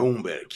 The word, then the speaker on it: Humberg: É Umberg ou Umberg? Como é que pronuncia, Fábio? É Umberg. Umberg.